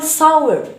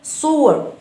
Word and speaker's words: soar: لا نقول sour. we have soar. لدينا و سكون ثم و أخرى مفتوحة. ها هي دي soar. هكذا يكون النطق.